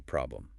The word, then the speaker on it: problem: The air at the end is a schwa, or problem. The O in the second syllable, velum, is a schwa.